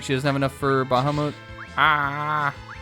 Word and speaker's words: Bahamut: Do you say Bahamut? I like to be a little extra and put a little RZ on it. And I say Bahamut cuz I think cuz honest cuz one I'm right about everything and that is how you're supposed to pronounce it. Uh in Japanese it would be Bahamuto.